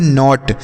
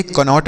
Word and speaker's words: knot: तो इसे हम पढ़ते हैं नॉट। KNOT, नॉट पढ़ेंगे, कनॉट नहीं पढ़ेंगे, नॉट।